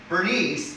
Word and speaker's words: Bernice: say agrippa griffa right bernice is an english name now if you want to get all fancy and look it up in greek you're going to find out it's probably pronounced for nicey but we're not going to get fancy we're just going to say bernice because after all we are speaking english right so bernice we